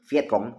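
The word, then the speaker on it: Viet Cong: Pasukan gerilya Vietcong ya, tulisannya VIET spasi CONG ya. Kita bacanya biasanya itu Vietcong ya.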